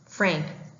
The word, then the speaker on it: Pfrank: He'd also like to clarify that the P at the beginning of his name, PFrank, is silent.